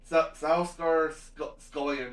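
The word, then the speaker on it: Stellan Skarsgård: Salsgar Salskar Scullion, I think is how you pronounce his name.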